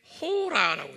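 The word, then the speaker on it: ὥρα: 한번 발음해 볼까요? 샤아. 네, 샤아. 요건 지금 hour예요. 요 시간이에요. 헬라 말로는 여기에 호라라고 되어 있어요. 호라.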